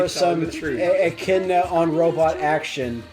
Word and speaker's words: echidna: echidna on robot action. I'm surprised you didn't say Ignida, I thought about it. which is a good pronunciation as well. It's acceptable. It's acceptable in the Sonic lore.